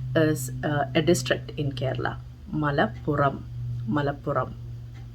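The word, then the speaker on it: Malappuram: pronounce it because of the difference in the pronunciation of r so rubber rubber is rubber and the last one is the place malapura malapura is a district in kerala mala puram so i hope you have learned the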